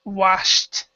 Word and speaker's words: washed: we actually say h do not pronounce the E and this is a t sound washed wash okay um and